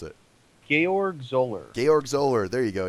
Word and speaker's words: Georg Zoller: I always mispronounce it. Georg Zoller.